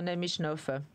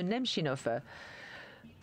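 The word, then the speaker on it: Немчинов: merci Monsieur le Ministre namichnouf désolé j'ai mal prononcé votre nom monsieur nemchynov nous sommes très impressionnés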